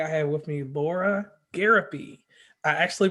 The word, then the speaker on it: Gariepy: on commonplace today I have with me Laura garopy I actually pronounced it correctly how are you doing Laura